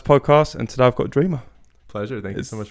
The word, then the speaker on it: Dreema: Well, welcome back to another Music Matters podcast, and today I've got Dreema. Pleasure. Thank you so much for having me. Is that how I pronounce it?